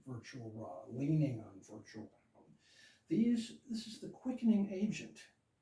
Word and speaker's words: Aum: By the way, Aum, 2 syllables, even though these right here are not meant to be pronounced out loud.